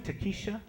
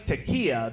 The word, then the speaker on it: Takia: I was like, "How you doing, Takesha?" She was like, "You don't know me, okay? My name's Takia. The sh is silent."